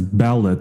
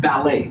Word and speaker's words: Ballet: so we it's pronounced ballet ballet as in the dance as in the art form people dance ballet uh the performance art but not ballot so it's not it